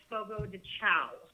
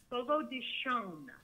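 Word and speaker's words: Fogo de Chão: Everybody always pronounces it Fogo de Chao. They always say Fogo de Chao. It's not Chao. Like, it's not C-H-O-W, although it's spelled C-H-A-O. Mm-hmm. It is pronounced Fogo de Shon.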